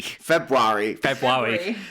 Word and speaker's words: February: Because I want to pronounce that first R, and it shouldn't be in there. No, I want to pronounce it February. Yeah. But it's Rari. February.